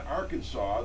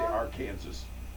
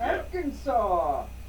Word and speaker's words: Arkansas: on the books in Arkansas that in the news this morning it's a law that says it's illegal to mispronounce the name of Arkansas in other words you can't say Aransas oh come on luckily